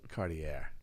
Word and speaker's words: Cartier: no it's Cartier yeah is that how you pronounce it Cartier Cartier yeah you should have correct watch your